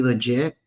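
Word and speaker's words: Legette: And then how do you pronounce his last name? Is he legit? Leggett.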